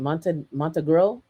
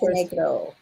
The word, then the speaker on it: Montenegro: Germany, the USA, Monte, is it Montegro? Is that how you say it? I'm screwing it up there. Cyprus, Montenegro. Montenegro. Okay, Montenegro. Montenegro Montenegro.